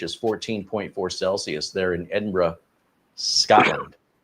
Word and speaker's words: Edinburgh: 14.4 Celsius there in Edinburgh, Scotland. Now, is it Edinburg Edinburgh or Edinburg? I've heard it both ways. According to Wikipedia, it's Edinra. B R Uh, Edinra.